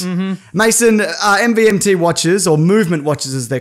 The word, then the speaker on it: MVMT: We had to wait until they gave us the copy and it said pronounced movement.